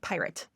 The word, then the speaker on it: PYRT: It's called PYRT. And yeah, Party. it's pronounced pirate.